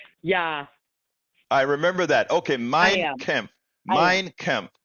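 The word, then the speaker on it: Mein: okay first it's pronounced minec M how do you say Hitler's book M mine mine like a land mine oh okay okay mine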